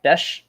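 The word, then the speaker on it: Bech: So his last name is pronounced Besh. Bes like like mesh.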